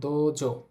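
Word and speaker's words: どうぞ: আছে কি লেখা আছে দ ও এর পরে উ আছে উচ্চারণ হবে তাহলে দোজ দোজ এরপর লেখা আছে ইওরু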